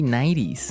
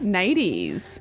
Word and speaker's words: nighties: Yeah, you you make the T a D.